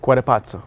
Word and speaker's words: Cuatepotzo: Cuatepotzo.